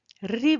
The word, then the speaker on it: ऋ: कुछ वैदिक लोग इसका उच्चारण करते हैं, पर प्राय लौकिक संस्कृत में जो उत्तर भारत के लोग हैं वो उसका उच्चारण ई की तरह करते हैं, री बोलते हैं, और जो दक्षिण भारत